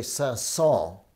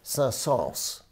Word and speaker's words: Saint-Saëns: france so remember that you hear people say saul but he said with the s at the end sals and purank wanted it